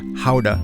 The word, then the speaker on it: Gouda: such as Adam or Gouda or howda as a Dutch to pronounce it with all this cheesy